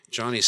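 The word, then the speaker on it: Joni: I know I mean Johnny's second book uh it's by the way spelled j n i I know it's sounds like I'm saying it's not Joanie it's Johnny it's how it's pronounced it's Johnny Ericson Johnny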